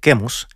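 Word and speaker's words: Quemos: trata todo esto no kimos que en inglés se escribe chemos y en español se dice kemos era el dios de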